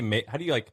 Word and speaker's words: Maven: So Maven, how do you say Maven? It rhymes with like Raven.